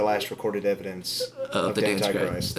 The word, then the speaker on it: Dantichrist: have to like basically say it's Antichrist, add a D. We pronounce it Dantichrist.